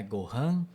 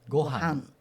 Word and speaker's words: gohan: Então é, não é Gohan, mas é Gohan.